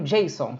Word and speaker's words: JSON: para visualização tá seguindo tem o jason se pronuncia assim tá é é uma